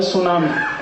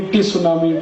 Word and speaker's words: tsunami: अंग्रेजी में एक शब्द है सुनामी, कैसे लिखते हैं? TSUNAMI, बोलते क्यों नहीं टी सुनामी, टी सुनामी, टी सुनामी? कहते जी टी साइलेंट है, तो लगाया क्यों? हटा दो उसको।